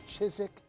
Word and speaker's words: Chiswick: so it started in chizik England it's spelled Chiswick but it's pronounced like Leicester Square you know I think